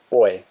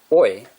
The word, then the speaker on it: Oy: But the Billy Bumbler couldn't pronounce boy, but said oi back to him. So Jake called him oi. Boy without the B. Oi.